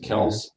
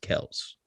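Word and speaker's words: Kelce: and ran with it but it's technically pronounced celts yeah ten years later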